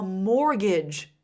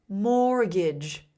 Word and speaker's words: mortgage: It's almost impossible to buy a house without a mortgage. Listen to the pronunciation of that last word. Mortgage.